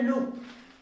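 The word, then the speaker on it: look: अब लुक कैसे लिखते हैं, ऐसे लो, डबल ओ का उच्चारण क्या है, लुक, और उसके बाद क, लुक।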